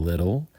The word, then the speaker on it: little: the the adjective Little American English we're going to pronounce it with a D sound little little comparative is less